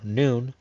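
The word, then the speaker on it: Nun: N, or Noon, the 14th letter, path number 24, joining Tifros to Nitzak, a numerical value of 50.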